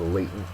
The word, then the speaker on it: latent: Our next word is latent, and every time I hear latent, I always think of superheroes, like Spider-Man here. Latent is an adjective. First syllable is accented.